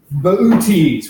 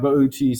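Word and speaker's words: Boötes: you don't know it others we pronounce incorrectly is bootys which I always pronounce bootys and I'm pretty sure it's supposed to be something like boaties I've seen it you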